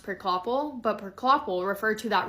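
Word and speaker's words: Priklopil: I think his last name is pronounced Prickloppel, but Prickloppel referred to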